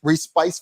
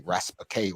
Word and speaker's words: Respice: Respice for them, right? Respice for them. They pronounce it wrong. They say Raspake or some stuff like that.